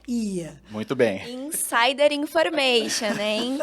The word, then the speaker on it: Oia: ou em I que se escreve oia mas não se fala oia se fala I muito bem insider information